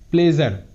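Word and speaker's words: pleasure: এখানেও এসের সামনে একটি ভাওয়েল এবং এসের পিছনে একটি ভাওয়েল, অর্থাৎ সামনে এবং পিছনে যদি ভাওয়েল থাকে তাহলে এসের উচ্চারণ বর্গীয় জয়ের মতো হয়, present, present. প্লেজার, প্লেজার, পি এল ই এ এস ইউ আর ই, প্লেজার, প্লেজার।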